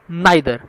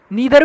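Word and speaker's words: neither: अगर हम बात करते हैं तो each, every, आइदर, नाइदर, नीदर भी बोलते हैं, नाइदर भी है, वो आपके प्रोनाउंसिएशन के ऊपर, आप ईदर, आइदर, नीदर, नाइदर जो बोलना चाहे, स्पेलिंग सेम रहेगी, इट्स ऑल, है ना।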